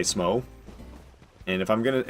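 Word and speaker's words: Smough: but it's definitely either it's either pronounced like the word though or it's pronounced like the word cough one of the two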